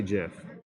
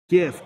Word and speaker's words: GIF: I'm about to cover I say it like the creator of it said Jeff CIF file format of moving pictures I say Jiff a lot of people say no no no GIF GIF like a graph